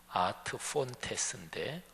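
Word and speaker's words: ad fontes: 라틴어로 발음을 하면 아트 폰테스인데 폰스, 폰타나 이게 이제 샘이라는 얘기죠.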